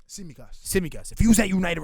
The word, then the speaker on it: Tsimikas: I don't think like, if you're trying to tell me how you say his name, Tsimikas. Tsimikas.